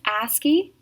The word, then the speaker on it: ASCII: the other word is asky a c i i is actually an abbreviation but we pronounce it asky for short it is a popular